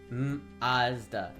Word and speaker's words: Mazda: yeah that's exactly it it's Mazda M A H ZZ d a h MDA is the Canadian pronunciation oh yeah Maz Ma